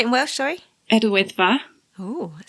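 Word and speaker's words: Yr Wyddfa: Idwyddfa.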